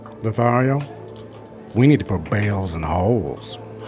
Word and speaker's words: Bhaal: And I think you know a thing or two about balls. It's pronounced bales.